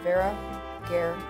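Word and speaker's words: Hveragerði: Remember that Hveragerdi is pronounced Hveragerdi.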